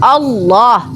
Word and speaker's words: Allah: kita sebut Allah karena harus ditafkim ditebalkan karena itu Alif lamnya itu ada dua harus kalau alif lam itu ditebalkan karena diawali dengan huruf Fattah maka bacaannya Allah nah mereka bacanya Allah